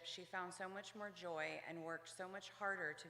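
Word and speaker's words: Gioia: it brushed public comments my last name is pronounced Joya I apologize I'm not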